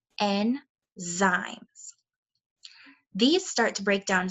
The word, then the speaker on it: enzymes: here it tells you how to pronounce this tricky word n zaimes these start to break